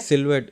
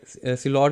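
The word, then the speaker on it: silhouette: सिलवेट, सिलॉट भी कह देते हैं कुछ लोग, सिलवेट भी कहते हैं कुछ।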